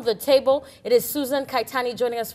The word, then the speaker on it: Kaittany: Lydia, are you I've already asked her how to pronounce it. It's Kaittany, and so it's one of those names you get married and you can't drop it.